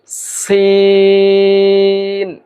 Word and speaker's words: س: উচ্চারণ করতে হবে আমরা উচ্চারণ করব সি কিছুটা বাতাস বের হবে এই আওয়াজ বের হবে অর্থাৎ যখন কোন কিছু থেকে বাতাস বের হয় একটা সি আওয়াজ হয় এই আওয়াজটা এই অক্ষর উচ্চারণ করতে হলে এই আওয়াজটা হবে। যেমন সিন সিন এরপরে যে অক্ষরটি রয়েছে